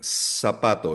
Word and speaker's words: zapatos: kanina, la letra C, ang bigkas nila sa letter Z ay parang TH. So for example, zapatos. Binibigkas nila na parang TH sound. Zapato. Zapatos. Zanahoria. Carrots. Pero sa Latin America, kung nasaan tayo, madali lang. Letter S lang yan. Sapato. Hindi siya zapato. Walang Z sound sa Spanish.